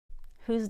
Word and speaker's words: who's: Whose done it? Who's done it? Whose. It sounds just like the possessive pronoun whose.